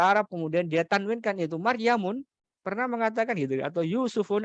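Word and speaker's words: مريمُ: ya di situ ada Utsmanu, ada Salmanu, ada Maryamu, ya, nggak boleh Maryamun, nggak boleh Maryamu. Kemudian Yusufu, nggak boleh Yusufun, nggak boleh. Kalau ada orang ngomong soal-soal pakai bahasa Arab, kemudian dia tanwinkan itu Maryamun, pernah mengatakan gitu, atau Yusufun adalah sosok ya,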